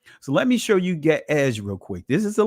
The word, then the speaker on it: Ge'ez: Notice how it's going to sound, because Ge'ez, or which they call it actually Ga'az, they call it now Ge'ez or Ge'ez.